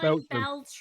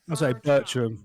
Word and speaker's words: Bertram: think you know what that's not what you've been saying you been Bel but it's ber sorry I've got Bertram cuz I could tell